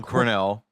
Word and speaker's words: Cornell: John Cornell, I can never say his name, John Cornell. Like the college.